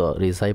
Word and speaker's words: রেজা: প্রসঙ্গে সম্পূর্ণ আলোচনা রয়েছে মূলত এটার মধ্যে মতানক থেকে যায় রেজা ও রিজার মধ্যে। অনেক আলেমগণ দ্বিতীয় শব্দটিকেও প্রাধান্য দিয়েছেন। আরবিতে সাধারণত রিজাই পড়া হয়।